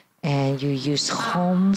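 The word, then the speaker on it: hūṃ: So this is the practice of the Sanskrit syllable. And the practice of the sound is you say home, home, home.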